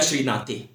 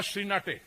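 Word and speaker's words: श्रीनेत: सुप्रिया श्रीनाथे, ये प्रोनाउंस करना नहीं जानता, उनके नाम का उच्चारण नहीं जानता। सुप्रिया श्रीनाथ जी, इनकी एक प्रवक्ता है, उसका नाम है सुप्रिया श्रीनाटे। अच्छा, श्रीनेटे, क्या श्रीनेटे, ओके, ठीक है।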